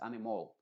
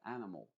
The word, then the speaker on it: animal: no es una o no es animol sino que an m m m es una a pero muy cortita animal animal capital capital capital